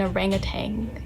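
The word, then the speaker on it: orang utan: If you ever go to Malaysia and see an orangutan, now you know how to pronounce it in Malaysia. Orang-utan.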